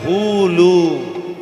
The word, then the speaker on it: হুলু: ঠিক তদ্রূপ উলু হবে না, উচ্চারণটা হবে হুলু।